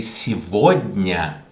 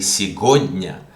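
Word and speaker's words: сегодня: is si voigna so why do i say si vodnia if it is written gu why don't i say sigonia because between two vowels gu is pronounced okay so this is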